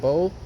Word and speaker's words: Beau: Now that we got past that point, Bo, the fifth column. His name is spelled Beau. Bo, not like bow and arrow. BOW. No, Beau, the fifth column.